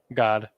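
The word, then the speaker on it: גד: And believe it or not, the Hebrew pronunciation for Gad is just God. Not God like G-O-D, but God as the letter Ga and then a da at the end.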